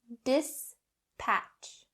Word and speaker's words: dispatch: dispatch dispatch not correct dis patch patch and the very last point the ch sound dispatch that voiceless ch sound has to be clear now say this word